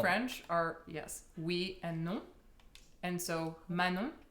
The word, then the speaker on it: Manon: are yes and so Manon is just like you're saying no but then ma in front of it um but yeah a